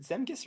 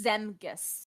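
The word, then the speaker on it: Zemgus Girgensons: you say it yes is it zemcus or zagmus I always forget it's always uh it's zemgus zemgis yep gergensons yeah he's not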